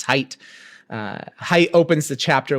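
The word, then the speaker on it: Haidt: I just pronounced uh this author's name hate. That's not his name. It's height.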